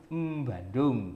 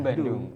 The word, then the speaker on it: Bandung: Tapi dalam bahasa yang baku tidak dikasih M itu B saja, Bogor, Bandung walaupun melafalkannya dengan M Bandung, M Bogor gitu kan.